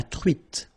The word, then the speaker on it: truite: Same thing here. Final E not pronounced. T. La truite.